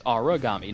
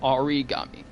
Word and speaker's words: Aragami: And I just completely butchered the name in the title, so it's Aragami, not Origami.